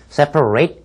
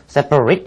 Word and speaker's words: separate: 이때 separate 이란 말은 형용사이기 때문에 separate 이란 말이 아니라 separate 이라는 말로 발음을 하셔야 되겠고요.